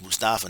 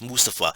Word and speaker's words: Mustafa: me mustafa i know michael mombardier wants to pronounce his mustafa no it's mustafa if you were interviewing um ali you he would prefer to be called mustafa not mustafa okay mustafa ali went one-on-one